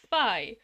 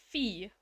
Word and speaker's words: phi: like fly most people know phi as phi to rhyme with fly assets pronounced in phi beta kappa kappa and dan brown's vesseling book the da vinci code however phi is said to be pronounced pronounced fee like fee in english you've heard the way